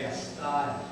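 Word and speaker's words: Castile: pronounce it Canton again you go to Spain it's casel in Spain but here in Wyoming County New York they pronounce it cast we all know of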